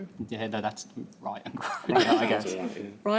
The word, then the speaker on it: griot: Yeah, no, that's riot and griot, I guess. Riot and griot? Yes, that's Well done. Pronounced griot, but we'll take it.